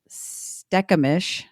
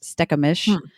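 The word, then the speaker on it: Stkamish: They were a network of villages from the Duwamish, Stekamish, so that's another one. That's STK is how you start that. Stekamish, Skopomish, and other groups.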